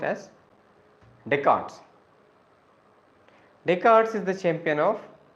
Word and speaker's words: Descartes: approaches Champion is deards wrote as Descartes but pronounced as deart deards is the champion of these approaches interactionism